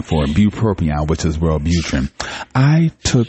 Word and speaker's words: bupropion: Bupropion, which is Wellbutrin.